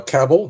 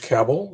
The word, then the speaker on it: Cabell: know there's also uh cabell james branch cabell i learned how to pronounce that rhymes with rabble according to somebody and